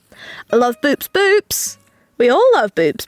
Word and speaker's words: Boops: Boops.